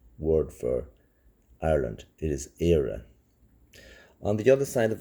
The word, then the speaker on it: Éire: It is Éire.